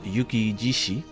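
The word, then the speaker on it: 雪獅子: barango his nickname is Yuki jishi um this is actually coming off of shishi but because it's a compound word it's just pronounced Yuki jishi which means Snow Lion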